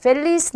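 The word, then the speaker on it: feliz: 그래서 발음은 영어랑 똑같이 F 발음처럼 해주시면 돼요. 그래서 파밀리아, 페차, 펠리스 이렇게 발음하시면 되겠습니다.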